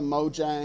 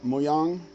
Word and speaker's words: Mojang: and uh mo jang i hate pronouncing mojang because i know it's really not supposed to be pronounced mojang but that's the american or the anglicized version it's something closer to muyong which uh i can't really pronounce properly anyway so mojang is what